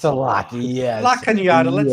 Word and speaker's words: La Cañada: Well, people think it's called La Canada. It's Oh, right. it's called La Cañada. La Cañada. It's a lot of. It's a lot. It's a lot. Yes. La Cañada.